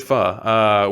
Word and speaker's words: pho: That is not how you pronounce it. It's pho." And I was like, that's not the way it looks. Like, I was like so confused. So, but no, it is pho, which is instinctively, I want to say pho. Like, that's just in my mind. That's the way I want to say it.